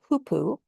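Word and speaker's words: hoopoe: Uh this is a hoopu. Um that one is spelled h o o p o e.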